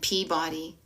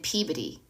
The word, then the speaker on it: Peabody: It's not like Sherman and Peabody. It's Sherman and Peabody.